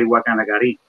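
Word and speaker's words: Guacanagarí: one of the chiefs, Guacanagari. I don't know if I'm pronouncing that correctly. Is that correct? Yeah, you can say it like that, or you can say Guacanagari.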